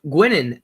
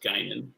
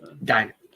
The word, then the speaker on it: Guinan: Who shares a table with Gwynyn at the wedding in Star Trek Nemesis? It's pronounced Guinan, but... Guinan.